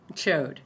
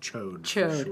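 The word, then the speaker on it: Chaud: but yeah I mean chode just chode I mean that's how it's spelled it's c-h-a-u-d is is the D silent I mean I don't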